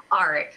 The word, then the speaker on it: Aric: her the guy's name aric like Eric but with an R and now they start